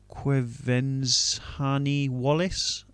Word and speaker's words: Quvenzhané Wallis: I'm going to have a bash at pronouncing this. Quvenzhané Wallis.